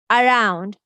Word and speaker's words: around: Along, around, about, above. Letter A is saying the shua sound because this is unstressed syllable.